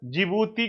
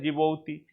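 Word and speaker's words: Djibouti: आगे देखते हैं, अगला कंट्री है जिबूती की बात करते हैं। स्पेलिंग कैसे लिखेंगे, तो डी लगा देंगे जिबूती में।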